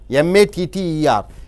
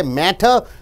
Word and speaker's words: matter: printed as d for example you see matter m-a-t-t-e-r in front of t vowel a is there after t bubble is there so it is pronounced as matter i went to discuss the matter you don't say matter you say matter i went to discuss the